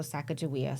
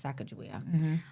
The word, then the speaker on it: Sacajawea: or Saka or what are all the other pronunciations in in shash way uh we reference her with the J spelling so sakaia so growing up in Idaho growing up on